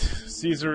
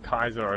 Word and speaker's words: Caesar: Caesar or Kaiser's tent fun fact Caesar is the way um Western People pronounce his name and kaisar is what they said back back in ancient Rome yeah here here is